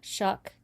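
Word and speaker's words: Shough: pronounce it right Shuck.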